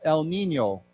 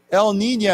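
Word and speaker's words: El Niño: this it's like uh there's like a y in here so we say Nino Nino yeah not Nino but Nino El Nino uh yeah Nina a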